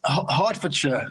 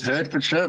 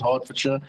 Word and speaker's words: Hertfordshire: beginning with it because it looks like it says hurt for sure but I don't know for some reason they pronounce it Hertfordshire so well done you